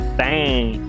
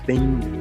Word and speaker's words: thing: Coisa é thing, thing, a gente quer falar thing, quer falar o G, então não é pra pronunciar o G.